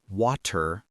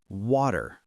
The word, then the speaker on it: water: Many learners say water with a strong T, but in American English, it's softer, water.